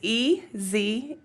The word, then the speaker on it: Ezer: So how do you spell that? Yeah, it's Ezer.